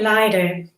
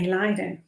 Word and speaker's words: lido: say lydo i say lido i say lido you say lido i say leader how do you pronounce lydo some say it rhymes with fido others prefer to hang out at the leader inspired by 1930s outdoor